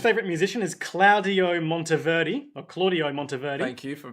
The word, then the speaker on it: Claudio Monteverdi: see Specter this favorite musician is Claudio Monteverdi Claudio Monteverdi thank you for pronouncing that correctly who was an Italian composer